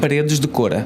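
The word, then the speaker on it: Paredes de Coura: Because how do you pronounce it? Paredes de Cora.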